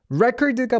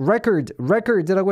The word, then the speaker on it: record: 스펠링은 똑같은데 발음이 달라져요. record, re가 되고 뒤에 cord, or 이렇게 발음이 돼요. record라고 읽으면 그건 녹음하다고요. 동사고요. 명사는 앞에 record, 강세도 앞에 있어요. record. 명사 record, 동사 record.